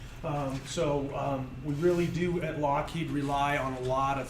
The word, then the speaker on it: Lockheed: really they changed it Lockheed himself changed it so people would pronounce it correct so virus descent the worst I've ever been called as mr.